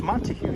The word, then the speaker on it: Montague: But alas, of course pronounced correctly, photos from around New York. It's Montague Street.